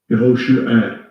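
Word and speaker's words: יְהוֹשֻׁעַ: 발음 한번 들어보시죠. 여호슈아. 여호슈아. 예, 우리가 보통 알고 있는 여호수아예요. 여호슈에 뭐 이렇게 발음을 하죠.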